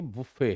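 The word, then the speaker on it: buffet: बुफे बुफे ये बुफे है। यानी लैटर पार्ट पे जोर है।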